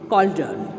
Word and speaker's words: cauldron: Three withered old women who danced around a witch's cauldron. So what it is called? Cauldron. Cauldron pronunciation will come with K.